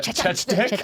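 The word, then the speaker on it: Chechik: I'm gonna pronounce Adriana Chechnik. Am I saying it right? Yeah. Chechnik.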